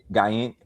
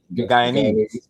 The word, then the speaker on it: Guyanese: You got to tell me, how was it growing up, given his Guyaning? Oh, how you pronounce it? Guyanese.